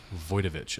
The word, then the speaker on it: Wojtowicz: What's the I know you looked up the pronunciation. John Stanley Wojtowicz. Wojtowicz.